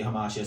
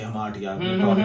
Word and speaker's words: hamartia: Aristotle mentions tragic hamartia, which is some say hamartia, some say hamartia, taught in different schools. So hamartia or hamartia, whatever pronunciation that you like, tragic flaw.